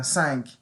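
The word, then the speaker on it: cinq: have something like uh sank c-i-n-q some people would say c-i-n-q-e or something thinking an e-q-u-e at the end no no oh wheat remember that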